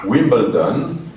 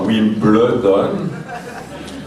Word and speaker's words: Wimbledon: Je ne sais pas si mon tailleur deviendra riche, mais plus personne n'aura d'excuses pour ne pas savoir prononcer Wimbledon et non pas Wimbledon, comme on entend trop souvent.